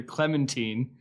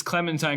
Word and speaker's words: Clementine: Although they uh Samuel Jackson pronounces it later, Clementine, which I thought was funny and kind of showed his maybe his carelessness, but it's Clementine because they're like like the movie My Darling Clementine.